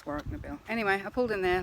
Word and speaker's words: Warracknabeal: I only pronounce it Warracknabeal because that's what the GPS says, but apparently that's wrong, it's Warracknabeal.